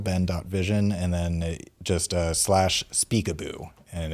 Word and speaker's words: Speakaboo: That's our main website URL, ben.vision, and then just slash speakaboo, and it's spelled how it sounds, speakaboo, SPEAKABOO, like peekaboo. Peekaboo, but Speakaboo, and then you can download it Android and iOS devices.